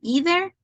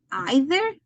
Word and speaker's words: either: and neither in this we going to have two pronunciation it doesn't matter if that is American English or British English I have listen in both of them person either and either Nether nether neither okay then I will